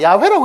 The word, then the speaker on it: 야훼: 자, 야훼라고 읽는 것도 여기에다 발음을 A라고 집어넣어 가지고 야훼 아마 이렇게 되었을 것이다.